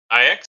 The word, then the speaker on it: Ix: IX? Yeah, so I am called Ix, if anyone's wondering how to pronounce it.